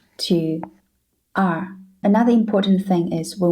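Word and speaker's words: 二: it wrong the first one is number two R this is a character this is the pronunciation the being the key to pronouncing this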